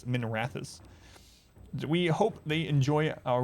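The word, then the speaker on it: Minrathous: can notify min uh minerathis is how it's supposed to be it's supposed to be pronounced i always pronounce it minerathus for some reason but it's minerathis we hope they enjoy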